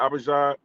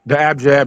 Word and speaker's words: abjad: Abijah? The abjad, the consonants.